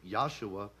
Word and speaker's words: Yahshua: And believe it, that has a direct correlation with Jesus or Yahshua, which it would have been pronounced 2,000 years ago, since the J wasn't invented until 750 AD.